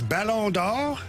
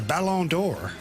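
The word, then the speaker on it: Ballon d'Or: The real way is balon. Then ESPN calls it the balonor.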